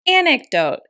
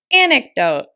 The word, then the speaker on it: anecdote: talk about the pronunciation anecdote anecdote anecdote as you can see the word is stress on the first syllable an anecdote is a